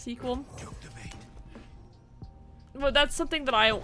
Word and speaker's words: SQL: i want to learn uh sequel i always want to say sql i know it's like technically pronounced sequel well that's something that